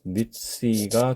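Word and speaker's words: נִסִּי: 그 다음에 C, 이 요드는 읽기모로 쓰였기 때문에 발음을 모음 E로 한다 그렇게 보셔야 되겠고요. 그래서 니시가 됩니다.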